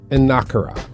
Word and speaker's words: Enukara: The first thing I saw when I was looking at your book title, it says Enukara. Is that the correct pronunciation?